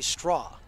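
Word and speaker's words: Strauch: And that's going to bring up Lindsay Straw. It's spelled different from what it sounds. It's pronounced straw, but it's s t r a u c h.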